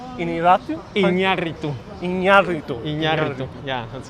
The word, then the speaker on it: Iñárritu: And then I always have trouble pronouncing the last one. Iñárritu. Iñárritu?